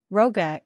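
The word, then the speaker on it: rogha: pronounced ISS tumorale uh Roga is the most difficult word here the first syllable rhymes with plow not blow the GH combination makes a w sound as in wet note also that is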